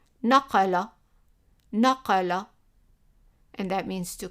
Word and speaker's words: naqala: And as an example, I picked naqala, and we have a Q here. Remember, the Q represents the kaaf, which is like a Q pronounced in the back of the throat. Naqala, naqala, and that means to copy or he copied.